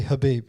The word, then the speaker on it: Khabib: obviously khabib is actually habib you don't pronounce the k oh okay hamza yeah